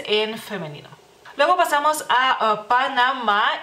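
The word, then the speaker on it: Panama: lituano, así que pues se escribe de la misma manera, solamente sin acento y se pronuncia, digamos que de la misma manera, o sea, ustedes la última A la pronuncian como un poquito más larga, nosotros como un poquito más corta, pero creo que la diferencia es muy mínima en este caso, así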